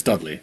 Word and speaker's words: Dudley: We've got uh No, actually, not Duters. It's Dudley. Don't say Dutters cuz he won't know who it is.